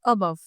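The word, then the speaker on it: above: तो इधर आप देखेंगे अबव। तो अबव में भी आपको दिख रहा होगा जो अ की साउंड आ रही है वह बहुत ही लाइट है।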